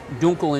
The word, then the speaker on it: Dunkel: a dark beer and it's called a munich dunkle dunkel or correctly pronounced dunkel in german means dark and so this is